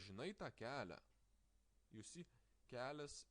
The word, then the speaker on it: kelias: You see, kelias has a softening sign before a, so we pronounce it like kelias s and kelia e.